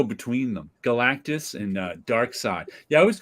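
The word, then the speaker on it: Darkseid: I always call them dark seed because that's how it would spell it's actually yeah um in English it would be pronounced dark seed but in German it would be pronounced Dark Side that's how that's what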